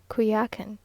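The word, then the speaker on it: Coyoacán: On Holy Thursday, we went early in the morning to Coyakan, now pronounced Kuyakan, which is almost a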